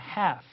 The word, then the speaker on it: half: 여기서 L, spelling N은 자, 철자 letter L은 silent, 소리가 아예 나지 않습니다. dark L가 아니에요. 그냥 half, 바로 F 사운드를 하시면 됩니다.